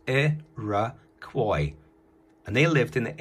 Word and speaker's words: Iroquois: did it phonetically therefore useless pronounced a rah coy and they lived in